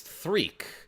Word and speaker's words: Threed: In Japanese, it's pronounced it's not Threed, it's Threek.